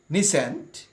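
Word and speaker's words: nescient: নিসেন্ট, নিসেন্ট অর্থাৎ অজ্ঞ, উচ্চারণটা ভিউয়ার্স ফলো করি, নেসেন্ট অথবা নেসেন্ট অ্যাডজেক্টিভ অজ্ঞ।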